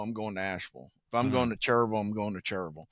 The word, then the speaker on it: Asheville: the the Vil like I understand why they say that because it looks like that. It looks how it's spelled, but I I say V. So if I'm going to Asheville, I'm going to Asheville.